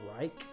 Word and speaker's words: Ryche: Another super underrated fingerstyle guitar player from Canada is a gentleman that goes by the name of Dylan Reich, and that's spelled Ryche.